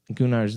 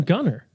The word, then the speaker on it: Gunnar: Gunnar's the guy that's with Korra. Oh, that's his name. Yeah. So Gunnar? I thought they called him Gunner. He's pronounced Gunnar.